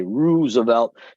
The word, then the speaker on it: Roosevelt: That meant we'd be headed out to Roosevelt High School, say Roosevelt if you want to pronounce it Chicago style, at least in my neighborhood.